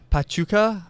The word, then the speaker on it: Pachuca: And also quickly, Montreal play Pachuca, I believe is how you say it, in the CONCACAF Champions League on Tuesday in the first leg.